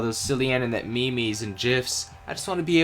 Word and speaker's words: GIF: silly internet memes and gifs. I just want to be able to make him smile too. First lesson, it's pronounced memes and gif with a hard G.